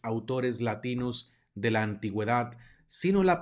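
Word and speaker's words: signum: veces salvo algunas excepciones cuando encontramos una G seguida de una n se pronuncia como ñ en español ñ de Ñoño de manera que esta palabra se pronuncia sino vamos a pasar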